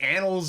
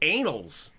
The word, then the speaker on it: annals: because we're gonna go into the annals of history or if you pronounce it if you pronounce it anals then you are a weirdo okay I've been in